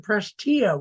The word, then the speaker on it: Prestia: And you pronounce it Prestia, which is, of all the hundreds of pronunciations I found, I didn't ever guess that.